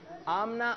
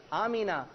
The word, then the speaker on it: آمنہ: سے کون واقف نہیں، لیکن اس کی ادائیگی کچھ لوگ صحیح نہیں لیتے، آمنہ آمنہ پکارتے ہیں۔ کیا پکارتے ہیں؟ آمنہ۔ تو اس کی صحیح ادائیگی، اس کا تلفظ ہے آمینہ۔ اور یہ ہمارے پیارے